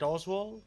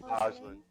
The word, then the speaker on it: Oslin: Is it Oswald? Am I pronouncing it right? Oslin.